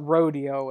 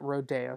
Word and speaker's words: Rodeo: The Rodeo, we call it Rodeo in Texas, but he pronounced it Rodeo, so we call it Rodeo.